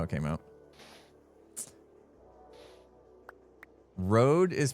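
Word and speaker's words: Røde: road is pronounced like Ro.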